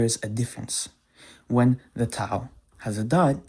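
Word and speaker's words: ת: In chosen Hebrew, when the last letter of the alphabet in modern Hebrew is called Tav, and in chosen Hebrew it's called Tau.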